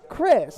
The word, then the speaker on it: Kris: Kris. It's my pleasure. I know it's spelled with a K, but it sounds like a C.